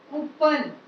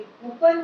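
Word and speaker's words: coupon: Next word है आपका कूपन, जिसको बोलते हैं कूपन, लेकिन कूपन भी गलत उच्चारण है। इसका सही प्रोनाउंसिएशन है कूपोन, कूपोन, नॉट कूपन, कूपोन।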